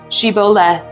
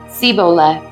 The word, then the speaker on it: Shibboleth: If the man said, "No, I'm not," they would tell him to say, "Shibboleth." If he was from Ephraim, he would say, "Siboleth," because the people of Ephraim cannot pronounce the word correctly.